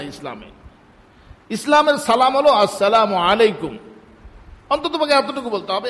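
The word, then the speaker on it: السلام: হল না এটা মানে সালামের আসল উচ্চারণ হল নাউনি আসসালামু হামজা আসসালামু উচ্চারণ করাইতেন আর কি আমরাও মসক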